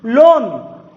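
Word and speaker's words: loan: लोन, ठीक, कैसे लिखेंगे, ऐसे, लोन, कहीं पर ए या आ का उच्चारण यहां पर नहीं है।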